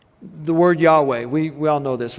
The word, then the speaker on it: Yahweh: you say that word it can only be pronounced by breathing in and breathing out so when you breathe in y way say that try that way it's it's the only way to properly pronounce it because there's no vowel sounds so it's been said